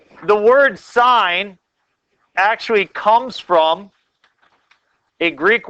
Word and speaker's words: sine: So when you see S-I-N, please don't say sin. Okay, we talk about that in church.